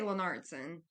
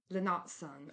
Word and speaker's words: Lennartsson: So I say Lennartsson, but obviously that's with a Southern twang. But when you ask my husband, he probably says it more like Lennartsson or something.